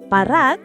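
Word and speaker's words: parat kaayo: Parat means salty. Cao means very. So literally very salty. Let's say it slowly. P rat ca au. Pa rat ca a yo.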